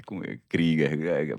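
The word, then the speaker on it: Krüger: Foram 9000 pessoas lá no germano KGER. É KGER a pronúncia correta.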